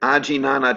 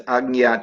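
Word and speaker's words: आज्ञा: so the correct pronunciation is Agnya chakra.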